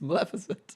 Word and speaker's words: Maleficent: there on the text it's spelled with an E okay it's Maleficent and he's a nice sound very similar mmm Maleficent Maleficent is it